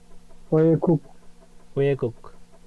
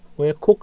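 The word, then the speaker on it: 외국: এটার উচ্চারণ ওয়ে গুক, ওয়ে কুক না তো, ওয়ে গুক। উপরে থাকলে গ, নিচে নিচে থাকলে ক।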